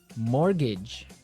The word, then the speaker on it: mortgage: funny word I mean there's this strange mortgage with a t yeah it has a t in it but you don't pronounce it you say morgage